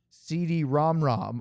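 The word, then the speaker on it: CD-ROM²: the Super CDROM 2, pronounced CD ROMROM. Oh, I get it because it's to the second power.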